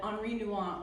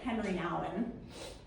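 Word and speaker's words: Henri Nouwen: It's the kind that Henri Nuant or as we Americans say, Henry Allen said was like carving out a part of yourself.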